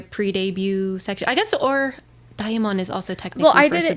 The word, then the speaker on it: DXMON: They have like a demon concept, so you would think it's called Demon, but no, I think it's DXMON.